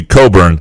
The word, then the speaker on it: Cockburn: It's the same with Cockburn. Yep. I mean, CH is silent. I mean, Cockburn. If he gets to be Scope and Scoop and Cockburn gets to be Coburn, never.